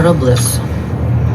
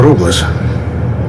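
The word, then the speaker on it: Robles: взагалі-то Я лечу паса роблеса тобто паса роблес але коректна вимова це роблес усі кажуть роблес Ну нехай сподіваюсь це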